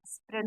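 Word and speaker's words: spread: ब्रेड मतलब रोटी, स्प्रेड मतलब फैलाना। देखिए ए के पहले ई आया है तो यहाँ ए साइलेंट हो जाएगा।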